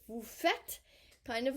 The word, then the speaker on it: faites: Don't pronounce the E and the S, it's not faites. Vous faites, kind of like vous êtes, you are.